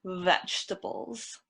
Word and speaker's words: vegetables: We really want to pronounce that V, vegetables. Vegetables. That sounds better.